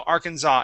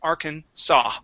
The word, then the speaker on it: Arkansas: that that s okay you didn't pronounce the S at the end but the that first s okay You' said zah so Arkansas it is Arkansas Arkansas Arkansas okay very